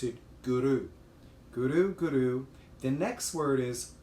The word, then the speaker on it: guru: just asked you to use the tip of your tongue to the back of your teeth and to rule the orbits so it sounds like this guru guru opposed to guru guru most people pronounce it